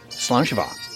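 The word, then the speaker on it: Slàinte mhath: okay so that's the way it works so salaam shiva robbie robbie burns we're going to tell you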